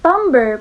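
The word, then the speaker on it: timbre: impression onto the canvas so tumber pronounced as tumber often referred to as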